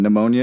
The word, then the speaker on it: pneumonia: It's like how the P in pneumonia is silent.